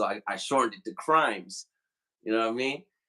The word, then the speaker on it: Crhymes: noticed your name bro it's crimes but it's spelled if you take the C away it's Rhymes yes sir how did and